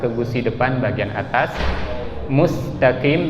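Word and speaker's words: مستقيم: Mustaqim juga sama, jangan musa tapi musta, ya.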